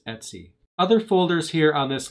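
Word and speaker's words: /etc: Etsy directory right here I know it says etc' and the Linux community we have a fixation for saying things in strange ways so we pronounce this Etsy other folders here on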